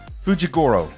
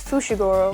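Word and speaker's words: Fushiguro: that one's pretty easy fujigoro uh sounds close i think it's fushigoro yeah i said it with a j but it's spelled with an f with an sh i'm like looking at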